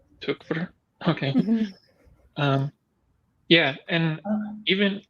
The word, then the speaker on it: Tykwer: the wowski plus Tom tyer I still don't know how to pronounce his name but um in and if you're trying to go for the correct German it's tuver tuver okay um yeah and